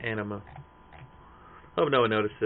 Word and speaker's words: Anima: could be his Aeon, Amina. I pronounced anima wrong, didn't I? It's anima.